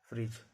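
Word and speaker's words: fridge: इसको पढ़ा जाता है ब्रीज, जज, फ्रिज। ई कब साइलेंट रहता है, कोई वर्ड है और जिस वर्ड में लास्ट में ई लगा रहेगा, ई का उच्चारण नहीं होता।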